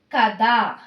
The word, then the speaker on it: ಕದ: Like k plus a is equal to ka. Okay. So the word ka related word kada. Kada means door. Okay, door. Kada. Ka, not da pronunciation. Da. Kada.